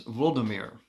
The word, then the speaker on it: Volodymyr: of Prince Vladimir, or as it's pronounced by the Ukrainians, Volodymyr.